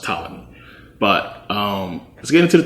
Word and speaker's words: Ptolemy: I always say Ptolemy, but it's actually pronounced Ptolemy.